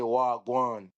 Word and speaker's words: wagwan: And it's spelled WAH, and then the other word is GWAAN. Wagwan. That means what's going on.